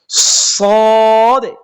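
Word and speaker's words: ص: এরপর আমরা সামনে আসি, যেমন দেখেন সদে, সদে।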